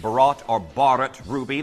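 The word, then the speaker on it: Bharat: And if you're unfamiliar with what Barat Ruby is, it's actually pronounced Barat or Barat Ruby like the Indian style of film.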